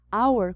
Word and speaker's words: hour: a gente usa a hour como eu tinha falado no outro slide começa com o som de vogal apesar de efetivamente começar com uma consoante o h é mudo então o som advogao